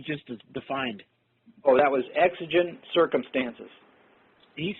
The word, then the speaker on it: exigent: the one you just defined oh that was Exogen circumstances you spell that uh it's two words e ex i